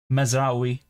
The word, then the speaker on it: Mazraoui: Mazraoui is the pronunciation.